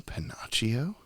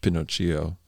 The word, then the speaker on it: Pinocchio: uh what is reality are you panachio it's pronounced pinocchio the mr panachio himself